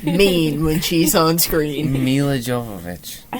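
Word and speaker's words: Milla Jovovich: a rule to never watch a movie with mila javakovic in it again because you get mean when she's on screen mila jovovich i said it right yeah mila jacobs jonathan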